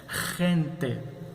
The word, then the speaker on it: gente: Assim nós pronunciaremos gente, quer dizer gente.